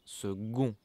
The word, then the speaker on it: second: Le second, pay attention, it's written second, but we pronounce it second, g.